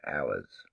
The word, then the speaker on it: Hours: from the album called Hours. H O U R S. Funny how the H is silent.